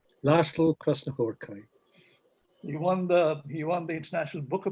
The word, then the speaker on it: Krasznahorkai: How do you pronounce this? Laszlo? Krasznahorkai. Laszlo Krasznahorkai.